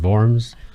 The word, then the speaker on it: Worms: see it's good it's spelled worms wo RMS pronounced forms and it's where Martin Luther went to defend